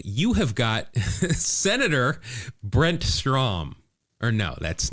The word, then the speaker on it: Strom: Pronunciation rhymes with prom. Strom.